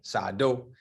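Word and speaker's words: Sahr Doe: And this guy, his name is Sar, S-A-H-R, Sar Doe, D-O-E. Okay. Sado. That's how they say it here.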